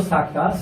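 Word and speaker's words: سكتة: আমাদের পরের একটা বিষয়বস্তু হলো সাক্তা। সাক্তার চিহ্ন এইটা যেভাবে লেখা আছে, সিন কাফ তা হা। তা এটা অ্যাকচুয়ালি হা, মানে উচ্চারণ যখন হয় তখন হা হয়ে যায়।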